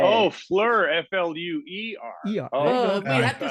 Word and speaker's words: Fleur: her name sorry sorry when I said I say Fleur well that's how it's spelled in the lyrics yeah yeah yeah yeah it's because sometimes people say flow her name is Flo blur yeah flower in French there you go all